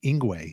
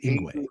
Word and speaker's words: Yngwie: You played with, you know, say his name wrong cuz I'm from Brooklyn. Inguay. Is that how you're supposed to say it? Inguay.